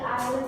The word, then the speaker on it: island: Apa perbedaan dari island sama island? Tulisannya Island, tapi bacanya Island.